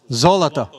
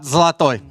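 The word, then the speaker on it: золото: Zoloto. Zlatoy. Not Zlatoy.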